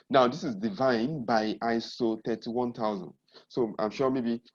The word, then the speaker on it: ISO: call it you know so that you can pronounce it like iso so that's why they